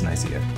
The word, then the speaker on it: Nicaea: The Gyps logo, Nicaea, or however you like to pronounce it, Nicaea, but you'd be wrong because it's Nicaea.